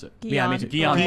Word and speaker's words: Guillain-Barré: always mispronounce it. Yeah, I mean, Guillain-Barré. Guillain-Barré.